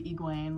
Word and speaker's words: Egwene: Edwene, it's literally Egwene. Like, I don't know why I like trip myself out when it comes to fantasy names, because I'm like, oh yeah, that's like really obvious what the pronunciation was, but I just butchered it because I was overthinking it.